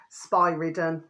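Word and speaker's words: Spyridon: Father space spy-ridden, okay, spy-ridden, which is spelled SPYRRDON.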